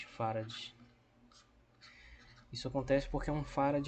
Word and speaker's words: Farad: Se escreve assim com letra minúscula, Farad, não é Faraday, é Farad, que é 1 Coulomb por volt.